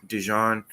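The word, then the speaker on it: DeJean: and then Cooper D dejon um uh I'm so glad you said dejon I'm so tired of hearing people say that man name wrong call everything but the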